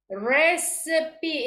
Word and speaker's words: recipe: dialect number seven seven recipe instead of Res recipe okay now in Bahasa recipe